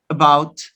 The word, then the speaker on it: about: about after after after if you notice you use this vowel in unstressed syllables syllables which are not stressed for example in the word about where is the stress about right about oh doesn't have stress about in the word after